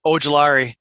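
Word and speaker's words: Ojulari: to get something crazy here because i'm behind ogilari is how you say it yeah edge rusher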